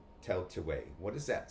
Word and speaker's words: Tailtiu: Now, the way the enunciation has you pronounce it as Tell, tell, Teetway, way, tell to way.